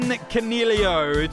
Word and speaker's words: Coniglio: the Big Sound, Stephen Coniglio, to chat about him for a hat-trick of episodes. I got Rids. Hello, buddy. Hey, mate, and just remember the G is silent.